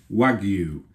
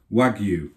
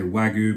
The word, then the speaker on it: wagyu: So, don't forget the pronunciation is Wagyu. Wagyu. I never want to hear people say Wagyu because it's simply incorrect and Japanese people are going to be cringing if you do that.